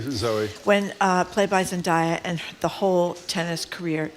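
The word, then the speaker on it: Zendaya: Zindaya. Zaya. Thank you, Zoe. When uh played by Zenaya and the whole tennis career changes.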